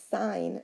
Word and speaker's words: sine: looks like si n but remember it's sine not sin so sine of theta remember it's a function like the square root of 4 sine of theta and the